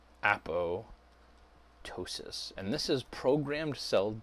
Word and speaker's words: apoptosis: called apoptosis unless hey you pronounce that a po or a po ptosis not puto psious that's pious silent right so it's a po ptosis and this is programmed